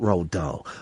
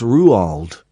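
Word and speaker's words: Roald: his garden there was a brilliant documentary about Ral D on uh Radio 4 about three or four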